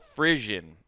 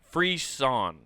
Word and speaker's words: frisson: So it's called frission. Frission. Okay. Yeah, frisson is how you say it. Sorry, I looked at the pronunciation.